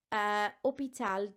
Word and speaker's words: hôpital: Now I know hôpital doesn't technically start with a vowel, but the H is silent followed by an O, so the sound is a vowel sound, okay, which is why